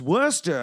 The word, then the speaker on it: Worcester: told me he's like it's pronounced worcester it's worster and i'm like oh